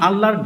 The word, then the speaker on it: আল্লাহ: এই লামটার ডান পাশে যদি জের থাকে তাহলে সেই আল্লাহ শব্দের লামের উচ্চারণ পাতলা করে করতে হয়।